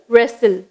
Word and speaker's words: wrestle: First word வந்து ரெசில், அது எப்படி ப்ரொனவுன்ஸ் பண்ணும், ரெசில்.